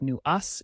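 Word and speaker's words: nuage: particularly in mountainous regions nuaj meaning Cloud pronounced new us is a common sight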